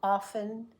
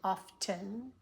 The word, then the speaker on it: often: T the X means it can also be silent as in often and listen sometimes people say often but most of the time it's often I often listen to